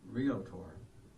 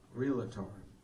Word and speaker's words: realtor: He was buying that land from Bob Dwit, the real realtor, more popularly pronounced realator by the same people who pronounce it uh nuclear if you know what I mean.